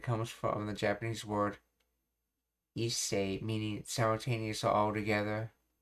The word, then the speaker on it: hisser: One theory suggests it derives from the French word hisser, pronounced isse, to hoist, to pull.